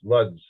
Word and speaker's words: Łódź: That's how it's pronounced, Lodz.